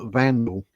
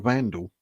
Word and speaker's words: Wandelt: Have a break from Julia Wandelt. Or Wandelt. I need to start pronouncing that correctly myself, don't I? People will start calling me out. It's pronounced Vandal, as in you're a vandal.